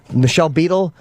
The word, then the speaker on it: Michelle Beadle: Michelle Beadle, is that how you say her name?